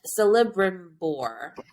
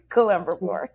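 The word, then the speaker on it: Celebrimbor: the great elven smith celebrity boar so celebrity boy i'm going to butcher all these things colebroon boar it's pronounced like a k like columbra whatever the the big blacksmith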